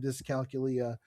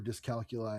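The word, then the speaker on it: dyscalculia: I do indeed have discalcula uh and uh anyway um or dcalcula I guess it's pronounced like dyslexia but this counts a lot.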